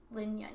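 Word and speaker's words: Jun Lin: Lin Yun, yeah.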